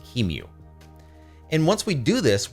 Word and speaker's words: QEMU: of utilities called uh how do you pronounce it i don't know keemu qmu something q e m u utils however you want to pronounce it i say kemu and once we do